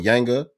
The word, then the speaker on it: Yanga: Yanga.